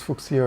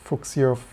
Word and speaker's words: Fuchsia: Maybe Google's future, or fuchsia, some people told me it's pronounced like future.